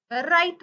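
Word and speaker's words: write: आर मध्ये पण same W silent राहतो example W आर आय टी राईट म्हणायच राईट वगैरे असं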